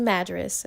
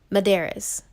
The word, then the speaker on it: Madaris: And let me just say, there are a few ways that you can pronounce Madras. I pronounce it Madras, but you can also pronounce it Madaris.